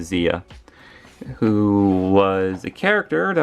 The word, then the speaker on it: Zia: baby blue herself and Zia or Zaya I like to pronounce it Zia who was a character